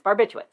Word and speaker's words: barbiturates: under the influence of barbiturates a name i could never spell on right on the first try there's that second r there that you don't expect unexpected r because it's spelled barbiturates